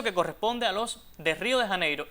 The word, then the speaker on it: Río de Janeiro: pronunciado, Río de Janeegro, porque en español esa J se pronuncia como h, o sea, no como y. Esa es la forma adecuada. Así que debemos decir Río de Janeiro.